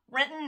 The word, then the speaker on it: Renton: First off, Renton natives pronounce it Renton.